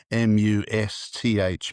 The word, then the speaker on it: musth: It's called must. It's spelled MUSTH, must.